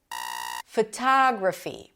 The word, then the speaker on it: photography: Photography. Primary stress is on the second syllable.